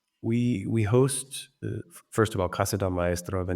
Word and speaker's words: Casa del Maestro: Let's talk about Casa del Maestro.